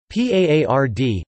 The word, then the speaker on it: paard: Therefore, a word may be written with a letter for a voiced consonant at the end of a word but still be pronounced with a voiceless consonant.